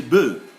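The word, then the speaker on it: bœufs: When there are many, we simply say le bœuf. We don't pronounce the F.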